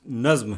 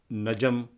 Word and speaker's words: نظم: تو یہ ہے کہ نظم کا تلفظ نظم ہے، نظم یا نجم نہیں ہے۔ نجم مانے تو ستارے